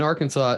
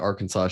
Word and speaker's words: Arkansas: motto Etc states that Arkansas should be pronounced in three syllables with the final s silent the a in each